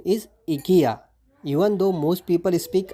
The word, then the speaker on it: IKEA: not least your favorite Furniture Store the multinational Ikea but the actual pronunciation is Ika even though most people speak Ikea so how